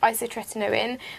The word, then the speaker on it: isotretinoin: who then put me on a medicine called isotretinoin, which is more commonly known as Roaccutane. Well done. Yeah, I pronounced it right.